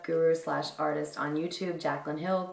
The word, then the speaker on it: Jaclyn Hill: It's called the Korres, and I've actually heard it pronounced Korres and Korres. However, my absolute favorite makeup guru slash artist on YouTube, Jaclyn Hill, called it Korres, not this in particular, but